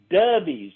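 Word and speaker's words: Dovie's: I'll get you some backstage passes and then go to Dubbies in Tomkinsville, Kentucky for the best hamburger you'll ever eat. Dubbies.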